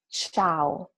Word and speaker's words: ciao: So CHI is chi, while the word below is ciao, another famous word, hello or goodbye in Italian. Without H in the middle, the sound of C and I together is soft.